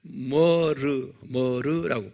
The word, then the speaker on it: myrrh: 그것을 이제 영어로 머르라고 발음해요.